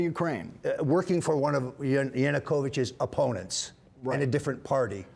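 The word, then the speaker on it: Yanukovych: No for no the former president of Ukraine yanukovich yanukovich who I have no relationship with whatsoever although you were in the Ukraine working for one of yanukovich's opponents and a different party you were working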